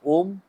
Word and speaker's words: ओम: नहीं पता है तो मैं बता देता हूं कि ओम के उच्चारण को हम तीन प्रक्रियाओं में करते हैं। आ, उ और मा। एक बार हम आ को लंबा खींचते हैं। मा को बहुत छोटा रखते हैं।